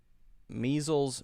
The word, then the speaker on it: measles: Measles, missiles. Measles is with a Z, E. Missiles is a short I, missiles.